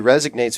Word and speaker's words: resonate: No, it's resonate. Resonate. I keep on saying, what did I say? Resignate is to resign.